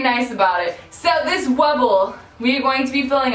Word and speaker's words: Wubble: excuse me fine internet it is not Wubba it is wubble it's wubble I've been pronouncing it